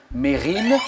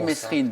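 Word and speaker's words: Mesrine: Ce commissaire de police qui a mis fin à la cavale de Jacques Mérine, hein, souvent on dit Messrine, mais c'est bien Mérine, on ne prononce pas le S.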